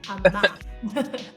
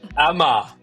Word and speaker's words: Ah-Ma: And I'm going to check that I'm pronouncing this right. Amma. Almost there. It's Amma. Amma.